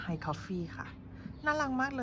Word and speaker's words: hayycoffee: ของ ร้าน เข มา เขา บอก ว่า เขา อ่าน ว่า High Coffee ค่ะ น่า รัก มาก